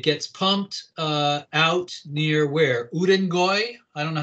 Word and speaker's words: Urengoy: Urengoy? I don't know how to say it. Yes, Urengoy in Western Siberia.